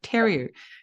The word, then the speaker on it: Theriault: I said Theriault instead of Theriault.